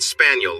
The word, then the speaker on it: Spagnol: Cal spagnol he said pronouncing it spaniel like the dog which cleared up a